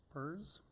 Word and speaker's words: PERS: PERS? That's how you pronounce it.